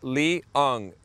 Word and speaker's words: Leong: from Leong and he says it's Lee as in l from San Francisco so